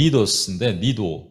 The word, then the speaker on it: Cnidus: 거기서 여기 보면은 CNIDUS인데 영어로는 이게 C가 묵음이에요. 그러니까 니도스인데 니도라는 곳으로 가요.